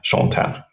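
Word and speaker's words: Shaun Tan: So I should spell it. It's SHAUN. And then TAN. Sean Tan.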